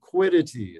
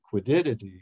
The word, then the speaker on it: quiddity: like a quiddity um I always put an extra uh syllable in that term quiddity is the correct pronunciation uh but I've had instructors who would say quiddity so I've inherited that